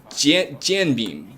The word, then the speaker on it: jianbing: It's Pronounced? It's jianbing.